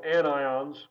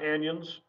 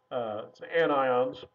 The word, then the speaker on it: anions: ions which are called anions again not anyons anions and so these are